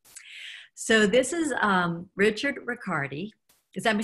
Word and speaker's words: Ricciardi: this is um Richard Riccardi cuz I'm sound how do you say your last name record he's fine because you couldn't you can say it that way that's fine thing okay okay he's a